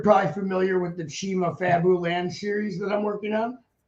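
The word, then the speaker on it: Fabuland: don't know you know that's how it's actually pronounced right because it's fabulous it's short for fabulous isn't it yeah I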